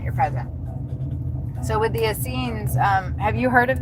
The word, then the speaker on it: Essenes: So, with the Essenes, um, have you heard of them?